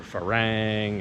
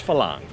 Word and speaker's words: Farang: I hear that pronounced wrong so many times. I hear Farang and Farang, and it's Phalang.